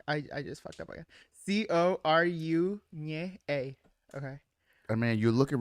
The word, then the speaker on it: Coruña: Because Coru, the N with the little thing on top. yeah. Nye. And Cour nye. Fuck, I just fucked up again. Coru nye a.